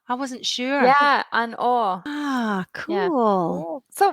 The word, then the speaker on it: An Oa: I was just going to say, and that's how you say it, an Or. I wasn't sure. Yeah, an Or.